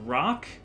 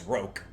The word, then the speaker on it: roc: And I think the pronunciation for that is roke. Yeah, I always go back and forth with it. We talked about this during Donkey Kong Jungle Beat. Yeah, we did. And I don't know if we ever came to a consensus. I don't think we ever did. I've always pronounced it as roke.